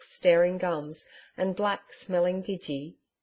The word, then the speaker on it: gidgee: gums and black smelling gidgee. Note: Gidgee, colloquial pronunciation of Gidea, an Australian tree.